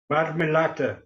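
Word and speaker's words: marmellata: How do you pronounce Marmelata? Marmelata, correct.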